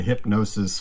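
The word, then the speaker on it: Hipgnosis: a company called hypnosis it's spelled like the you know the people that designed the pink field yeah yeah that's what i thought it's spelled just like that but it's called it's called like the hypnosis fund music fund so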